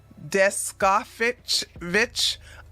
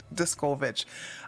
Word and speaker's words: Descovich: Last week, Tina Descovich, oh my God, let me get her name right. Discovich. I think it's pronounced Discovich.